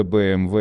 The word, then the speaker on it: BMW: Некоторые борцы за правильное называние всего и вся уверяют, что нужно говорить BMW. Не нужно. Потому что BMW – это абсолютно адекватное произношение для немецкого автомобилестроителя, чье название, как известно, произошло, сократившись от Bayerische Motorenwerk. В немецком языке буквы, вошедшие в бренднейм, называются именно так, и W – это V.